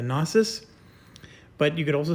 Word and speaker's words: gnosis: is the uh the the gnosis the canosis however you want to pronounce that usually kn is like knife so i would say the gnosis but you could also